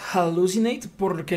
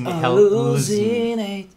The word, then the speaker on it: hallucinate: Yo diría que según las reglas del inglés, hallucinate, porque la H suena como una J. Sí, la H suena. Pero ahí ella dice hallucinate.